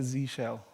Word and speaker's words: zsh: and then we have the Z shell which of course only works if you're from the States because the rest of the world would pronounce it as Zed shell I understand that but that's not how it's pronounced which made me think